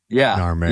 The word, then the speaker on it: Narmer: Phonetically, the catfish sound is nar and the chisel sound is mer. So Egyptologists call this guy, Narmer.